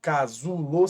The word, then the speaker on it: casulo: exceção a palavra casulo se você falar casulo você vai perceber que o Zu é mais forte culo nesse caso ela é também uma paroxítona porque a penúltima é tônica a penúltima sílaba casulo Entretanto a terminação dela